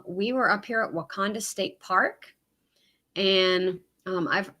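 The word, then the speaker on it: Wakonda: knew anybody i didn't know northern missouri said why kinda but that's right i'll continue to mispronounce it perfect um and i'm sure we'll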